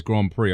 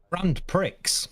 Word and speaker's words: Grand Prix: We We're still pronouncing Grand Prix as Grand Prix, aren't we? We're not pronouncing that as it's spelled. Grand pricks.